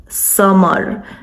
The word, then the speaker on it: Samar: So just to clear this, my name is Samar. It's pronounced closer to summer, like the season, but it doesn't mean summer like the season.